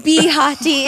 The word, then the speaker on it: Bahati: Oh my goodness, like Hottie. Bahati is actually how you pronounce it.